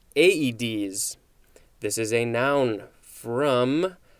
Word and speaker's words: Aedes: It looks like the A and the E are both separate syllables, so this is AEDs.